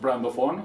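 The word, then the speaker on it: Brandoffon: My my vision for brands and my word is brand ofon and it's pronounced brand ofon all together.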